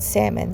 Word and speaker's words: salmon: or salmon, so salmon, it's called salmon. The L is silent.